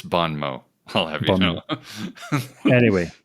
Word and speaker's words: bon mot: Yes, because we were calling it bon mot, and he's like, it's bon mot.